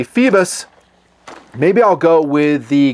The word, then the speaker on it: Phoibos: not Newton fancy and it is fievel's f ee vos apparently not my pronunciation which will be Phoebus maybe I'll go with